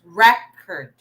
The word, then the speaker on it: record: Okay, so the stress is in the first syllable because it's a noun. So, class record, record.